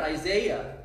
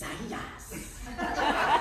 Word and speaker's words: Isaias: Because it's not Isaiah. You can't call it Tropical Storm Isaiah. It's Isaias. They like love to say it that way.